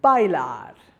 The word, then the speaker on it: bailar: Rule number 2, if a word ends in another consonant other than N or S, then the last syllable is accented.